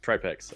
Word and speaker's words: Tripex: like Marble, but um he wrote uh for his pronunciation t r a j for the try part of his name, which being from Slovakia uh would make more of an i sound, so Trapex, I believe is correct.